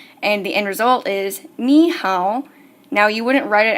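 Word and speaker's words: 你好: it's me how and me is in 3rd tone and how is also in 3rd tone and you shouldn't have noticed this if you haven't that's okay but whenever I pronounce me how I'm not saying both third homes I'm changing me to a second tone this is for pronunciation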